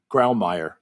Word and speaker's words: Grawemeyer: That's how a German would pronounce it. Is that how an American would pronounce it? Grawemeyer.